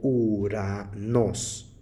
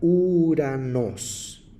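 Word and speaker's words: οὐρανός: pronunciación que es importante ustedes saben que ou es el único diptongo que se contrae al pronunciar y no suena la O sino solamente la u quien desconoce esta regla al leer esta palabra griega diria uranos sin embargo lo correcto es contraerlas Al momento de pronunciarlas y por eso se pronuncia uranos ahora pasemos a ver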